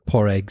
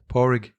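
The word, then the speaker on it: Pádraig: Poraig's son. Yeah. Porag, How do you say it? Porig, Poraig. Paddy, Poraig. Paddy. Paddy. Yeah. That's Paddy. that's Paddy in Irish in Gaelic.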